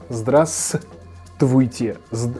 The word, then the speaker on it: здравствуйте: In this word you have a stress in the beginning and you should emit the V sound in the middle, so it should sound like здравствуйте, not здравствуйте, without this V.